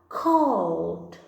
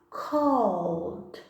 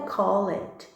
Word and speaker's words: called: só adicionou ed, mas a pronúncia ficará called. Called. A gente não pronuncia o E, não é called, como muitas pessoas ainda não falam. Então é called.